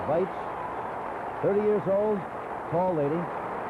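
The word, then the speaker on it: Waitz: Well, she pronounces it Weitz, it's a W, but says Weitz.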